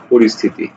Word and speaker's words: পরিস্থিতি: ও রিস থি তে, পরিস্থিতি, এ হচ্ছে উচ্চারণ।